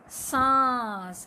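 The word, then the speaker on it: साँस: और जैसे ही हम सा के ऊपर चंद्र बिंदु लगाते हैं तो ये बन जाता है सांस। क्या बन जाता है? सांस। समझ में आया बच्चों? अर्थ भी बदल गया, उच्चारण भी बदल गया।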